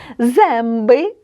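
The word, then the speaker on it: zęby: у нас е носовий Давайте його вимовимо правильно і читаймо слова демби дуби демби земби так зуби прошен прошен прошу пішен пішен пишу ви бачите що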